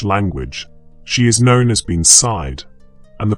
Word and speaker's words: bean sídhe: In the Irish language, she is known as being sídhe, and the pronunciation of these words carries within it the weight of centuries.